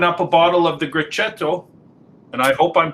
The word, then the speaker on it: Grechetto: a bottle of the grechetto and i hope i'm pronouncing that correct great say that again c c h in italian is like so great and and this